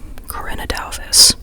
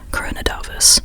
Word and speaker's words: Corinne Duyvis: Sorry, Cora Davis. I just looked up the pronunciation. Corin Davvis. Um, at least that's the closest that like she recommended online for native English speakers. Um, so I don't know Dutch, so I don't know the Dutch pronunciation.